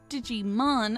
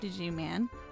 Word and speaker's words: Digimon: And next up, we've got a Digimon artwork, not Digiman. Did I seriously just pronounce it that way?